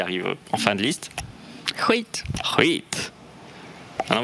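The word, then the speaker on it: skit: Huit. Huit. Alors vous savez comment prononcer les SK, hein, suivi d'une voyelle différente de A, O, et U. C'est I, huit.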